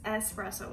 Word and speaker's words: espresso: do our espresso espresso i keep saying it wrong it's espresso with an s not an x okay so when you